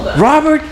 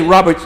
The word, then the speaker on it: Robert: Robert, by the way, his name is Robert. There is no S at the end.